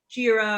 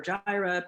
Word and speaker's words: Jira: management solutions you know there's jira or gyra people pronounce it differently um you know do